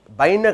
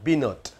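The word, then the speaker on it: בנות: அடுத்து பாருங்க, பைன ஜெருசலேம், இந்த பைன ஜெருசலேம் அப்படின்னார், பைன கிடையாது பினோட், பினோட் என்ற ஒரு வார்த்தை தான் நாங்கள் பயன்படுத்தணும். பைனன்னு சொன்னால் வார்த்தையை அர்த்தமே தப்பாயிடும். அடுத்து ஜெருசலேம் அப்படின்னு சொன்னார், ஹீப்ரூவில்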